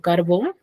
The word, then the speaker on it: carbón: Y con tilde, por ejemplo, tengo carbón. Su sílaba tónica está en bon, que es la última sílaba, y termina en n. Por eso, ¿qué han hecho?